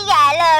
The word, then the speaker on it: Galo: Ako si Galo, rhymes with Gago, at ito ang buhay ko.